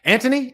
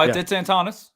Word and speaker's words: Antonis: Anthony? Is it Anthony? Is that how you say it, Ant? No, it's Antonis. It's Antonis.